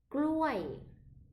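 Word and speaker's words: กล้วย: Gluai, gluai, gluai. Ok. Et le mot gluai, c'est encore, attention, parce que si tu prononces mal, cela peut être aussi vouloir dire les parties intimes d'un homme. Donc là, prenons bien le J et le L.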